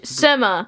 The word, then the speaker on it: Buscema: Okay, we're going to look at this wonderful artwork by Big John Buscema. All right, ladies, we are looking at both covers. Lydia, who did the direct market cover? John Buscema. John Buscema. Buscema.